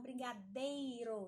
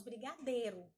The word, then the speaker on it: brigadeiro: Tô com vontade de comer um brigadeiro. Nós falamos brigadeiro, mas é brigadeiro.